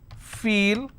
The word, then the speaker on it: feel: ah food next one feel which is long vowel sound e and then i have